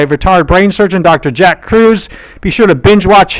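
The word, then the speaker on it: Kruse: Jack Cruz. Be sure to binge watch him. And that's spelled with a K.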